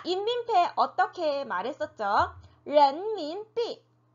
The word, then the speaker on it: 人民币: 人民币人民币 네, 人民币라고 읽었죠.